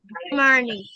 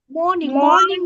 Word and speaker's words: morning: Wake up early in the Morning. morning বলবে না, আরটাকে silent করে দাও. Make this R letter silent.